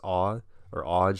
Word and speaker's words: AWGE: And I want to give a shout out to, I think it's pronounced Awge, AWGE, who does all the